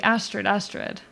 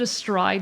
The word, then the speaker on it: Astrid: I'm doing great, just kind of bored, and you pronounced the name as Astrid. Okay, Astrid. Apologies. If I mispronounced it. No, sorry, I thought it said Astride, not Astrid, but I understand.